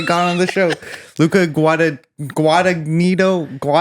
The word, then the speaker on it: Guadagnino: Luca Guadagnino. The second G is silent. Guadagnino.